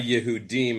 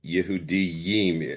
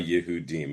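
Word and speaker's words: יהודים: So, the Masoretic note on the bottom is you have an extra yud and you shouldn't read it you shouldn't read it any other way but instead of by Yehudim.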